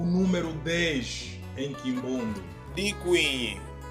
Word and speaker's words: Dikwinyi: O número 10 podemos pronunciar de duas formas, com o prefixo di ou sem o prefixo di. Com o prefixo di fica da seguinte forma: Dikwinyi. Sem o prefixo fica da seguinte forma: Kwinyi.